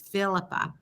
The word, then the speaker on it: Phillipa: we're full see I'm going to get your name wrong it's it's Philippa so so anyways uh you guys I told